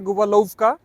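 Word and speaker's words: Gubałówka: নিচে একটা রাস্তা আছে গোবালৌকা এটা ওরা উচ্চারণ করে গুবাকা আমি জানিনা কেন বাট ওদের উচ্চারণটা এরকমই হয় আমরা এখন গোলফকার উদ্দেশ্যে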